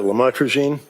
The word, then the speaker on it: lamotrigine: um the Lamictal, uh otherwise known as uh lamotrigine. Did I pronounce that right?